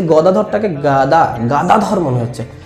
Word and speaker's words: গদাধর: তো প্রভুপাদের কানে এটা লাগছিল, তো উনি ভবানন্দ মহারাজকে ডাকলেন যে কারা গান করছে তাদেরকে বলো ওরা গাদাধর বলছে, কথাটা গাদাধর না গদাধর, উচ্চারণটা যেন সঠিক হয়, অন্তত যেন সুরটা যেন